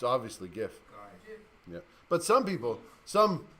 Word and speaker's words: GIF: For example, how do you pronounce that word? It's obviously GIF.